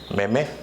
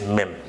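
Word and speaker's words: meme: to the next one how it appears to you mamie yeah but it's not that again pronunciation for that one is mim-mim and you know the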